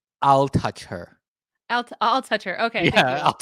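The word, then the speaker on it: Altucher: So this is how he always tell people to say his name is I'll touch her.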